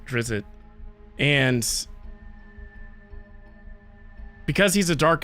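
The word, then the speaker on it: Drizzt: series The Legend of I'm sure it's pronounced drizzit but I just like seeing drits so these this is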